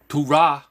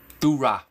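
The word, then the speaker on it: Thurah: So, Turah, which is, that's how you pronounce it. T-H-U-R-A-H. Turah.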